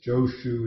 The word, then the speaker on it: Joshu: Joshu is the Japanese way of pronouncing the name.